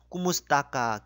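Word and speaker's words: kumusta ka: 여기에 꾸무스타까 K와 T 이 발음들이 있는데, 이 K와 T는 히읗 발음이 아니고 쌍디귿, 쌍기역 이런 경음화 발음으로 발음하시면 되겠습니다. 그러니까 꾸무스타까 이렇게 발음하시면 되겠습니다.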